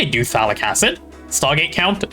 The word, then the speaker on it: Phthalic acid: Man, I remember the days back when I used to happily call this thing Pathetic Acid. But then I got taught how to say it properly, and now I'm just sad.